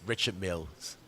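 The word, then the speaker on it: Richard Mille: It's not Richard. I think it's French. It's Richard Mills.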